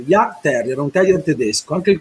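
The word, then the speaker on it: Jagdterrier: Si scrive Yag con la I, con la J di John, A-G-D Terrier, Yag Terrier, un terrier tedesco, anche il colore ci azzecca.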